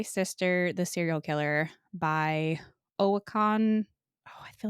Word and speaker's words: Oyinkan: Khaw and My Sister, the Serial Killer by Oyinkan.